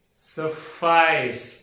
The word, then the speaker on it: suffice: This is called as suffice. Two syllable sounds. Suffice. Su Su followed by a little bit of tinge of h and fice. Suffice.